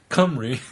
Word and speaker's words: Cymru: She goes on, right on a different note, kudos to you all for getting the pronunciation of Cymru mostly right once I suggested saying Cymru with a British accent.